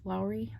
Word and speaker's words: Lowry: so if you need a Lawry stand Lowry that's how you say it I want to say like Lawry's sea salt a Lowry stand uh